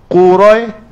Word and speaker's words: Quraisy: Jadi kita baca bunyinya Quraisy. Dekat pada ya. Quraisy baru tutup dengan syin qurais. Quraisy. Qurais jangan lepas. Ha ha. Itu cara bacanya.